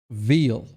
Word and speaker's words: Veil: start of Through the Veil. Nice. Veil, pronounced veil.